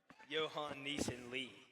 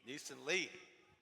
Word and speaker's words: Johan Neeson Lai: Have to get that pronunciation out there. Johan Neeson Lee. Neeson Lee.